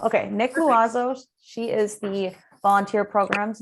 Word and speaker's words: Loiseau: you pronounce your last name for me it's pronounced loazo luazo okay Nick luazo she is the volunteer programs manager with the